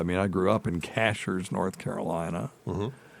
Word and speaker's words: Cashiers: It's not Cashiers. If you say Cashiers, we know you ain't from around here. You're a fucking tourist. Yes. No, it's from around Cashiers. So if you ever want to go there and not sound like a tourist, pronounce it correctly.